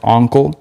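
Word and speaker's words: Oncle: full-length lp uncle jazz i think it's pronounced uncle yeah like uncle but with an o yeah again yeah hopefully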